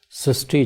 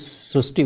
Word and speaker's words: Srushti: We have heard of Srishti, but this is a very unique name, Srishti. So in Marathi, the word Ri is pronounced as Ru. So that is why the pronunciation goes Srishti.